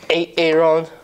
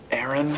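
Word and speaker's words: Aaron: first time I said it ate a rod because it's pronounced Erin so you don't messed up ay-ay ron now take your butt down to mr.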